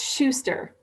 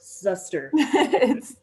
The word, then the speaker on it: Schuster: your last name it's schuster okay so not zuster no problem yeah and